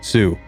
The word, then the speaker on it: Sioux: a word meaning cutthroat, which to English speakers sounded like Sioux. And when the English speakers wrote the Ojibwe word for cutthroat down, they spelled Sioux like a French word, with a silent X.